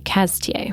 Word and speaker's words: Cazetiers: deeply entrenched burgundy lovers it s spelled like Cazetiers, but the French tend to squish it all together and say Caz-tee-ay.